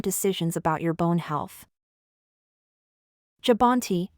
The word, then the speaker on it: Jubbonti: Have you heard about a new medication called Jabonti? This video will help you understand what Jabonte is, how it works, and what you need to know to make informed decisions about your bone health. Jabonti, pronounced jubanti, is an injectable medication designed to help strengthen